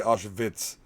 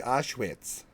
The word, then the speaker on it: Auschwitz: make sure to say ashovitz so proper what's the correct pronunciation no no you're American you see Auschwitz you're Midwestern I know you use the German dialect yeah figures I like